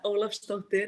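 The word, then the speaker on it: Ólafsdóttir: on my name uh gleb olaf stokter is exactly right it means that i'm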